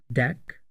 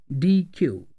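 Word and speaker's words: deque: version of Q is called DQ which is pronounced as deck or DQ it is a collection of homogeneous data items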